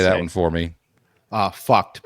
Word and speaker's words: PHUKD: Fucked, but it's spelled PHUKD.